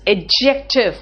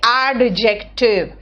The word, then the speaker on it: adjective: What is adjective? First tell me what is adjective. You don't say adjective. Adjective, this D is silent here.